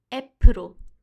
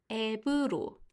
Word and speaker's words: 앱: 그래서 가끔 영어를 사용하는 학생들이 앱으로, 앱에서, 앱이, 앱은 이렇게 발음하는데요. 이렇게 하지 말고 앱으로, 앱이, 앱을, 앱은 비읍 소리, 비읍 소리를 내면서 발음하도록 조심하세요.